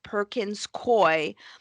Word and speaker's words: Perkins Coie: So hundreds and hundreds of lawsuits, and that Perkins Coie, Perkins basically the Coie, the law DNC.